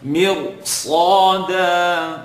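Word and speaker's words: مرصادا: Sada, totally wrong. Sada, you're not pronouncing it with it, giving it its right. So sad is heavy, second part of the tongue. Slaw, dal, tip of the tongue behind the top two teeth. Da, slada.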